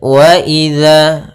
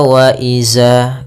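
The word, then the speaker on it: وإذا: Kita ulang faidan nujumu tumisat waidama furijat pada lafal waidza. Hati-hati dalam melafalkan zalnya jangan dibaca waaiza. Ini kesalahan yang sering terjadi yaitu mengganti huruf dalal dengan huruf zai.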